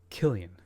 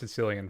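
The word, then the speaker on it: Cillian: It's Killian Murphy. Matt Killian, excuse me. Hearties. Gota get hearties. That's right. Don't worry, I pronounced Sicilian for the first like 20 years when I first saw him.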